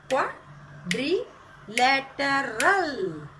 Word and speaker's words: quadrilateral: Quadrilateral. Quadrilateral. आता इथे मी लिहून दाखवते, स्मॉल याच्यामध्ये लिहून दाखवते. See here. Qua. First syllable. Dree. Letter. And last is run.